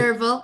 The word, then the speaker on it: Derval: this webinar, and for Derbel, did I? say it correctly. Derval, yeah, close enough.